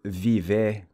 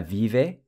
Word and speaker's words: vive: Compare ella vive in Spanish versus ela vive. So the E sounds like an I.